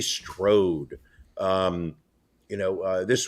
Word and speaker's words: Strode: the role of Lori Stroud Laurie Strode not Stroud maybe that's the way they pronounce it in Pennsylvania but it is Lori Strode um you know uh